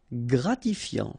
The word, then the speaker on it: gratifiant: Gratifiant. Same thing here. Final T not pronounced.